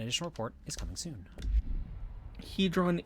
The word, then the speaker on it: Hedron: report is coming soon hedron is the correct pronunciation I was saying right